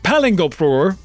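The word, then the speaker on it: Palingoproer: It's pronounced Palingur, and it's ridiculous.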